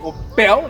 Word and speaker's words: Opel: it's an Opel and I pronounce it an opal I don't know I would say Oh bell sounds weird in my mouth but it's an awful